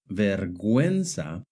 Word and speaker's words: vergüenza: For example, in the word guerra and guineo, the U is silent. But in the word vergüenza and in the word pingüino, the U is pronounced.